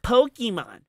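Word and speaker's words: Pokémon: the Mario Kart the Pokemons what that's right it's called Pokemon that's how you pronounce it properly I don't know oh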